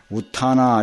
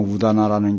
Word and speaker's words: 우다나: 그러니까 여기에 우다나, 우타나 이러는데 이제 범어 발음은 우다나라는 게요.